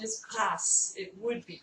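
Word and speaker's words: coup de grâce: Often, though, we do mispronounce that and say coup de grace because we sort of think that the last consonant isn't pronounced in a French word. But in fact, in this particular word, the French pronunciation is grâce.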